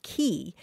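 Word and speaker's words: quay: And so, David, yeah, the word spelled Q-U-A-Y is usually pronounced key.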